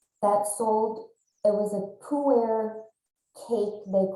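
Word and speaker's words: Pu-erh: have not heard of is uh pronounced pure and it's a fermented tea and like a fine wine poo air has become better with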